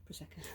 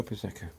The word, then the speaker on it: Prosecco: How do you pronounce that? Prosecco. Oh, Prosecco.